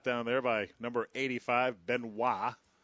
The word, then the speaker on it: Benoit: Pass was caught down there by number 85, Benoit, or Benoit. It's B-E-N-O-I-T. I always thought that the Tigers relief pitcher, Joaquin Benoit, should have had his name purposely pronounced Benoit, because then he would have been Benoit of Detroit.